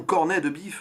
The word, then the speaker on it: corned beef: deviné l'événement c'est l'opération corned beef réalisé en 1991 sortie avant les visiteurs donc enfin l'opération cornet de biff dans le film s'est prononcé à la française avec ce trio d'acteurs